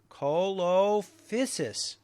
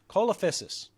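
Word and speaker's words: Coelophysis: what period did the climax of The colif colophysis happen cholophysis could you spell that for me yeah c-o-e-l-o-p-h-y-s-i-s oh c-o-e-l okay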